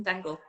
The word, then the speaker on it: Stengel: Yeah, it's a German origin name. So I think in Oh, German okay. it's more like Stengel, but it's Stengel. Yeah, but a lot of people pronounce it Stengel because in English they can't kind of thing.